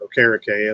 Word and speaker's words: Okereke: You've got Nicholas Morrow in the Bobby Okereke role, or Okereke is how he wants it pronounced now.